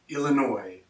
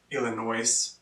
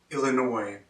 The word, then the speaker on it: Illinois: Illinois, Illinois. Not Illinois. Some Americans do say that. It is pronounced Illinois.